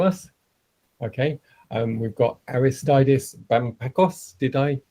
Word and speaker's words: Aristeidis: gde presenting to us okay um we've got aristides did i pronounce that okay eris absolutely tom you pronounce